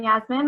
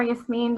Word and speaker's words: Yasmin: Hi, I'm Yasmin, or Yasmin, depending on your pronunciation.